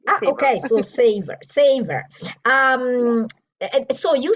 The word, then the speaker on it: Saveur: I think it's Savor. The American savor. Yes. I thought it was French. Saveur.